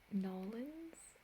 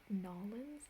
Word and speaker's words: New Orleans: orleans um i believe there are several different ways to say this city um new orleans would be kind of more north east nollins anna please correct me if i'm wrong i believe i thought people from new orleans say it nollens like like it's one word but i would say